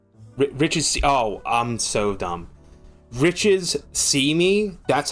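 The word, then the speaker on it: Richissime: Riches see me. That's how you pronounce it. Like the riches see you.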